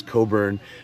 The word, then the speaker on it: Cockburn: Bruce Coburn. Bruce Cockburn. But Canadians pronounce this Coburn because they're so unsexual.